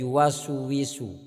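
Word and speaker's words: يُوَسْوِسُ: Jadi jangan sampai yuwaswi, tapi yuwaswisu, yuwaswisu. Jangan sampai yuwaswisu.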